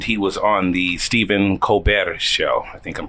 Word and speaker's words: Colbert: And he was on the Stephen Colbert show. I think I'm pronouncing that right. Colbert. No rolling of the R. Colbert. It's more of a in your throat thing, but it's okay.